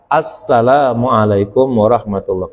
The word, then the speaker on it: Assalamualaikum warahmatullah: Ya, jangan kedengarannya tuh Assalamualaikum warahmatullah, Assalamualaikum warahmatullah. Salah itu salamnya kayak gitu ya. Yang benar Assalamualaikum warahmatullah. Kedengeran asnya gitu. Jangan Assalamualaikum warahmatullah ya kan.